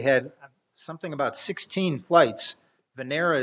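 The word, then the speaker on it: Venera: something about 16 flights vanera is how you say Venus I believe in Russian and uh Venus 7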